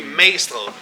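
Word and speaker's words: Magstræde: It's called, the way you pronounce this, Magstred. You don't really say the G, you say Magstred.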